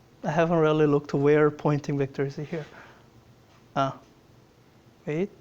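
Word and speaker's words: Poynting: And I want you to note a pointing is spelled weird. It sounds like a pointing as if if I'm pointing and it's um confusing because a pointing vector it points in the direction of propagation direction, but it's spelled with a Y.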